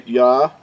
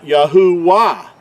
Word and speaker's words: Yahuah: Creator's name is pronounced Yahuah, and it's not. That third letter, we've already talked about this, makes an oo sound, not a W sound or a V sound.